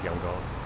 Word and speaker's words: Yangon: It used to be Yangon, or the way they used to spell it. Or no, Rangoon. Rangoon. Now it's Yangon.